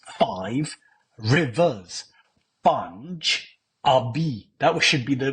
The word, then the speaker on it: Punjabi: Not Pun-jabi. That's a mistake.